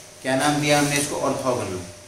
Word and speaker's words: orthogonal: ऑर्थोगोनल।